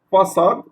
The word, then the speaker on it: façade: Façade, ici le C devant un A, mais il y a la cédille, ça se prononce ça. Ça se prononce comme la lettre S.